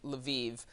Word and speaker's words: Lviv: I've heard I've heard it pronounced both ways, Lav and Lviv.